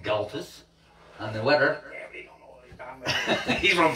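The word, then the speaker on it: Gaultois: How do you say that? Galtois, right? Galtus. Looks like Galtois to me. Galtus. Does he say Galtus?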